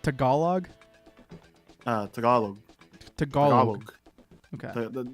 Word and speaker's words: Tagalog: It's pronounced Tagalog? Tagalog. Tagalog. Okay. Don't enunciate the G in Tag. So Tagalog. Yeah.